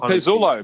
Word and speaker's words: Pezzullo: Oh, Pezzullo, Michael Pezzullo.